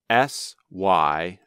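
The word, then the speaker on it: cymbal: That's spelled S-Y-M-B-O-L. But there is also an object used in music called a symbol. That's spelled C-Y-M-B-A-L. Two words that make exactly the same sound in English are called homophones.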